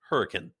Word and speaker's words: Hurricane: Hurricane Utah it's spelled like hurricane but it's pronounced hurricane anyway so those are the three biggest cities